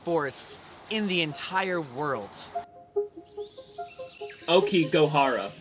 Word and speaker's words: Aokigahara: in the entire world Okie gohara is how you pronounce it I've been saying okigahara okigo Hara and to be honest